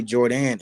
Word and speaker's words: Jor'dan: jordan but i think people uh sometimes don't know how to pronounce it but um it's actually jordan and my mom actually